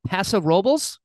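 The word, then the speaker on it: Paso Robles: so you're you're in Pasa robes is that how you pronounce it yeah you nailed it well I mean I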